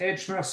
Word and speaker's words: H Mercer: do you how do you say it yes Ed mer import Ed is for my business partner Mar